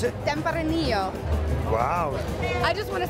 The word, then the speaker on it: Tempranillo: Pronounce it? Tempranillo.